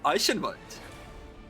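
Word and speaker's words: Eichenwalde: can write if you want the correct german pronunciation as an austrian it's going to be ice invite to be honest austrian is a little softer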